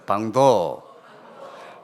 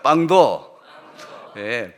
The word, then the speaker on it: 방도: 그런데 이게 BANG로 방자를 쓰면 되는데, 페루로 가니까 스페니쉬로 쓸 때 그게 아니고 PANG를 쓸 때 발음이 빵도더라고요. 보니까 한번 따라합시다. 빵도.